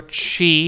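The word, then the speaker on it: ち: And then we're going to go for chi, which is the T on the stripe. So, we're going to go for chi. So chi. Yeah, you speak it out as cheese.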